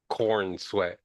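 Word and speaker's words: Corenswet: So, it's like corn sweat, you know? You can't really You can't really say it without sounding like it's corn sweat.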